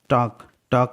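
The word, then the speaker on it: talk: Guys, टॉक में L silent है.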